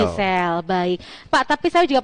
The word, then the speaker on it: GEESEL: Bisa, dibuka aja di website kami atau mungkin di marketplace ada Gisel official dengan tulisan GEESEL. GEESEL ya. Dibacanya Gisel. Gisel, baik.